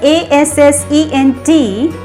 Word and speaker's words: assent: The other word ASSENT, ascent, is used as a verb as well as a noun. Though these two words ASCENT and ASSENT, they sound alike, in pronunciation they are exactly the same, but there's a huge difference in their meanings.